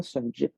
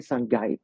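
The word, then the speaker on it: shungite: Fait que c'est la Sungit, que je dis souvent Sungit, mais on devrait prononcer Sungite. Ah, OK. Moi, je disais tout le temps Shungit. C'est pas oui, ça vient de Russie. Ça vient de Russie, puis mon russe n'est pas très bon. Ah, il faut la prononcer à la russe. Donc, Sungit.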